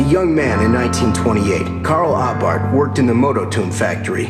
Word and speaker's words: Abarth: little bit about Carl abart by the way the H is silent according to theat he